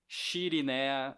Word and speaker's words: Chirine: So it's c h i r i n e a shirina or chirin or as we say it.